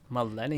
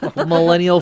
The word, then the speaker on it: Millennium: U Millennial Falcon um New Millennium Millennium you always say it wrong I do you're like Millennial Millennial Falcon Millennium um a new uh